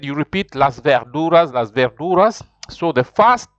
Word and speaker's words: Las verduras: pronounce it after me Las verduras Las verduras and I told you the V some people they can pronounce as if it is a b sort of so you could you